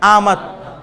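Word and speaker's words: آمد: এটা হচ্ছে উর্দুতে আমদ, ফার্সিতে অমাত। ফার্সিতে উচ্চারণ হচ্ছে অ, আর উর্দুতে উচ্চারণ হচ্ছে আ, তাই এটা হবে আমদ।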